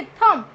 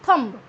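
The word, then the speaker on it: thumb: Okay थम, तो हम इसको क्या बोलते हैं, थंब. ब साउंड हम लेते हैं बट it will be silent. B sound we आर not going to speak again, आपको दोबारा नहीं बोलनी है.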